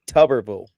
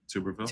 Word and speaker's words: Tuberville: It's Tubberville, not Tuberville.